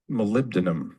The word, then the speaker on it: molybdenum: And some of the minerals that you need, can anyone pronounce that? Molybdenum, I think.